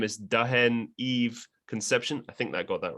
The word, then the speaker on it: Concepcion: silent h and then my last name is actually um like spill it it sounds spanish it's conception so that's how you say it yeah i gotta